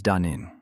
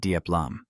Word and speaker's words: Dunin: I want to tell everyone first that my name is Dunin, not Duplam.